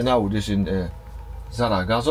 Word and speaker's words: Zaragoza: So now we are in, er, Zaragoza or Zaragosa, I'm saying it wrong here, Zaragoza and, er, it's seven degrees here, it's still raining.